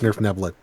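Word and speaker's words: Svirfneblin: play was it the Nerf Neblin? The deep gnomes. Yes, it's pronounced Nerf Neblin.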